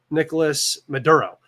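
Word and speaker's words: Nicolás Maduro: She is the person that they have chosen to replace I always say his name wrong. It's Nicolas Maduro in Venezuela.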